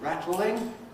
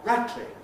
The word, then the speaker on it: rattling: Rattling, to rattle. Something rattles, it's rattling, or rattling, rattling around. The L can become non-syllabic.